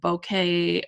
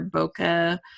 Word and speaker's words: bokeh: really like the that bouquet lighting effect or bokeh I've heard it pronounced both ways I like bouquet for better it sounds fun so